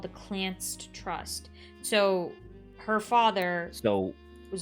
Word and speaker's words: Clanced: The Clanced pronounced Clan SED, so Clanced. Clanced.